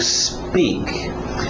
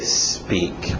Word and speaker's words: speak: To speak. Cuidado com essa pronúncia. A tendência desse S antes do P, quem fala português, é querer colocar uma vogal de apoio, dizer to speak, porque a nossa letra